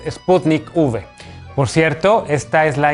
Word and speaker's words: Sputnik V: vacuna no se llama sputnik 5 la ub no corresponde al número 5 romano sino que hace referencia a la palabra vaccine o vacuna así que no caigas una paparruchada la forma correcta de pronunciar el nombre de esta vacuna es sputnik v por cierto esta es